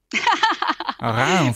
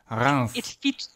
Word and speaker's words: Reims: Okay, so already the S is pronounced here at the end, which is not common.